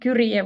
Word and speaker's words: Kyrie: Kiri, how do you pronounce her name? Kura would be the Finnish way.